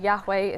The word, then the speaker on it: Yahweh: J and East sources J being pronounced yeah in German right as a why so we Yahweh is spelled with the J so the J and